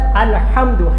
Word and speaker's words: الحمد: العالمین، لفظ ہے الحمد، ہا اور ہا کا تلفظ اور مخرج یہاں سے درمیانی حلق سے، لیکن ہمارے لوگ پٹھواری پنجابی الحمدللہ رب العالمین پڑھتے ہیں، ہا کی بجائے ہا پڑھ دیتے، سارا معنی تباہ ہو گیا۔ الحمد کا معنی ہوتا